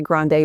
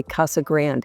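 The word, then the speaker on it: Casa Grande: We don't say Grande, we say Kasa Grand.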